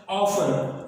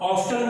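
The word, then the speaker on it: often: ऑफन, ऑफ्टन नहीं होता, ये ऑफन है।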